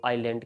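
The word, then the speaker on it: island: फिर आज जो हम इस्तेमाल करते हैं व आइलैंड की तरह करते हैं आइलैंड द फोर्थ रीजन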